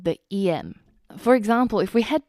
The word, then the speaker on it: em: Now in this case, this is actually a completely different EM. And the EM in this case is actually the phonetic pronunciation of the letter M.